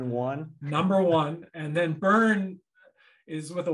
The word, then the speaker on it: Byrn: it to them and that's the only way people pronounce my last name correctly because it's got a y in it but no uh no e at the end it it does make